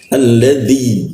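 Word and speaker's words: الذي: Alladzi ya dzi nah lidahnya diangkat gitu seperti itu. Maka agak ee cukup berat.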